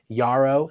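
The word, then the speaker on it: Jarrow: Yarao, spelled with a J, but it's pronounced Yah.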